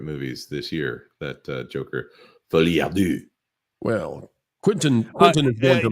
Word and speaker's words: Folie à Deux: Although apparently one of Quentin Tarantino's favorite movies this year, that Joker, Folie à Deux. Well, Quentin is going to love this. Hold on, Jonas. It's pronounced Folie à Deux.